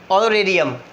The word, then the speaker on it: honorarium: ऑनोरेरियम, एच is silent, spelling HONORARIUM, हॉनोरेरियम, एच is silent, ऑनोरेरियम, ऑनर, ऑनर कर रहे हैं, ऑनोरेरियम।